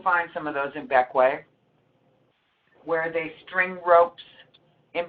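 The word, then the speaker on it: Bequia: It's called Beckway. It's pronounced like Beckway.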